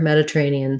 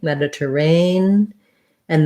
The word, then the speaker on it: Mediterranean: the schwa meta meta-ranian then another schwa then here's my stress syllable just like the word rain my my diphthong a so this is an unusual spelling usually we have a y or a i for that a sound in english in this case it's just letter a mediterrane and then we have an e um mediterranean and then c is just the same as to c or just the tense e sound uh mediterranean c okay